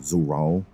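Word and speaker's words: Zoraal: also before we proceed I understand that I've been mispronouncing zuru's name the whole time it's pronounced zoral or zor you see I can't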